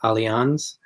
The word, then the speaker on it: Allianz: it's called is it it looks like Alliance but I think they pronounce that Allianz we did yeah we